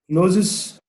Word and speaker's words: clothes: Clothes. Clothes. Clothes. Clothes. Clothes. The Clothes. It's not clothes, it's clothes. clothes. Yes, clothes. You put your mouth under your teeth and you merge between the TH and S together.